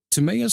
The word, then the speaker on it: Timeaous: okay, Uh, Timeaous Spark and the Luck Curse is set in the world of Mythantis. Now, did I pronounce both correctly? you did. Timeaous and Yes, you Mythantis?